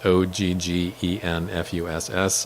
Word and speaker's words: Oggenfuss: Yeah, so first name is, last name is Oggenfuss.